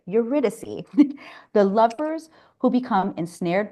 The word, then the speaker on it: Eurydice: Eurydice, the lovers who become ensnared by Hades and can't leave his underworld kingdom without paying a terrible price.